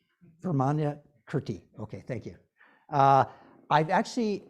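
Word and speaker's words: Vimalakirti: Can you pronounce his name? Vermana Kirti.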